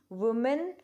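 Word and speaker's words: women: ऐसे ही वुमेन, विमेन, वुमेन, विमेन। Pronunciation में ध्यान देंगे बेटा, इसमें प्रोनाउंसिएशन में गड़बड़ होती है।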